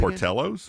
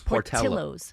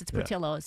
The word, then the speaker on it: Portillo's: How does the restaurant pronounce it? Portello's? Portillo's. Portillo's. Oh, Portillo's. I didn't know how to pronounce it. Yeah, she's better at I it. should, it's from the Midwest. It's Portillo's. Midwest, Portillo's.